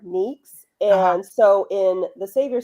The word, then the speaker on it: Nyx: you know the name Nicks NYX. Yeah. Um the Greek pronunciation of it is more nicks and so in the savior series I have them pronounce it as nicks.